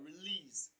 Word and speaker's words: release: Now, when we look at release, the stress falls on the second syllable, lease. It is pronounced louder and longer, release.